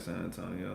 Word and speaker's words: San Antonio: The right way is how everyone in San Antonio says it, like San Antonio.